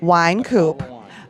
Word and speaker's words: Wynkoop: Hi, I'm here with Joel, and I believe it's pronounced Wynkoop. Wynkoop. Like a bottle of wine.